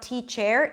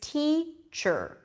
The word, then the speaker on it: teacher: it's the choose sound so it's not teach air its teacher sure sure okay so I'm